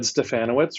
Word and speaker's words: Stefanowicz: Stefanowicz rhymes with Bananowitz, so you got it.